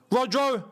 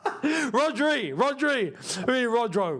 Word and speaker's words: Rodri: Rodro? Who the hell was Rodro? Rodri.